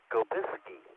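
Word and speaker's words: Sobieski: Oh, it's not Scope, it's Skobiski of Poland.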